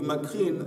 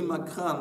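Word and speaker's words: מקרן: Le Yud du Makrin, c'est une voyelle qu'on prononce, mais ce n'est pas écrit dans le texte, un Yud. On le lit Makran, donc le Keren, de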